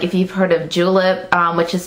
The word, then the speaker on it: Julep: It's one of those new indie brands, kind of like out here in the beauty world, like if you've heard of Julep, which is spelled J-U-L-E-P, like mint julep.